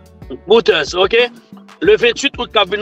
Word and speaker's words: Reuters: Et on quand on rendez-vous le 28 avec Reuters ou Router, on pas connaître. Pas une prononciation bon. REU TER, Reuters, ok?